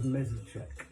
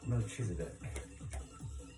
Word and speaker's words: Melchizedek: Order of Mezechek. Did I pronounce that right? Melchizedek.